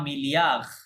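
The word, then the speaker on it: milliard: আর বিলিয়নকে ফরাসিতে বলা হয় আ মিলিয়ার। কি বলা হয়? মিলিয়ার, ডি সাইলেন্ট আছে লাস্টে, হ্যাঁ, মিলিয়ার, মিলিয়ন, মিলিয়ার।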